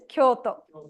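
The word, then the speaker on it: 京都: Like the famous cities, Tokyo and Kyoto. They have elongation actually. So a way a Japanese person pronounces will be slightly different. An American might say Tokyo or Kyoto, like that.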